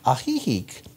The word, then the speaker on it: Ajijic: I sang it in Ajijic, Mexico, A-J-I-J-I-C is how it's spelled, but that's the town we were in.